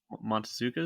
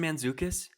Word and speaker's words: Mantzoukas: Oh, you're Jason Montezukas? Is that how you say it? Is Bear Hunter? Dude, Jason Mantzoukas. Mantzoukas. Yeah.